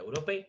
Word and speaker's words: Europe: Europe. Europe. ¿Por qué está sonando la P? Porque la E no suena. Europe. No, Europe. La Europe no existe.